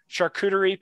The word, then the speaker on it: charcuterie: and cheese had like a new nice chart charcuterie plate is that how you say it yes